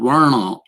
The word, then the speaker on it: varna: So Varna, this is what the system in India theoretically is called. Varna is the proper pronunciation.